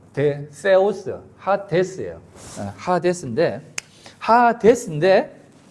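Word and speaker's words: ᾅδης: 그래서 하디 발음 대세오스 하데스예요.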